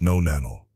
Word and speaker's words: nonenal: Tuna nano, pronounced nonanal, is an organic compound, basically a byproduct your skin starts to produce as you age.